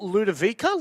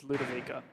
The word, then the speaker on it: Ludovica: good size but will ludavika luna feature a little illiterate guy it's like i um i hit up my girlfriend who's my resident italian pronunciation expert and she told me it was ludovica oh i hate up